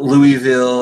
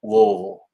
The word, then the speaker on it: Louisville: It's not Louisville. It's not Louisville. It's Louisville. Richie says, I've seen Quake's show where he actually passed out.